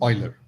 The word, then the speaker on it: Euler: Some of you may have heard Euler and things like that, but I pronounce it as Euler.